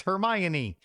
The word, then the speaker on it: Hermione: It's Hermione. Okay, what is that? Go watch the Harry Potter movies and you'll know. Okay, never mind that. She's Harry's best friend. Hermione's charming.